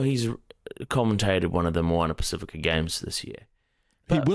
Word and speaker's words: Moana Pacifica: So Moana, that's almost wrong. That's 50% right. Say I wrote that down as Mowarna. Moana. Moana. Yeah, and then Pacifica was Paseeka.